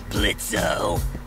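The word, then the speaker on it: Blitzø: Sure, Blitzo. The O is silent now, bitch.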